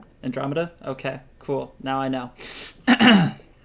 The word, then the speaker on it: Andromeda: larch so that will catch up with and and Romita is that my pronouncing that correctly Andromeda okay cool now I know so Andromeda has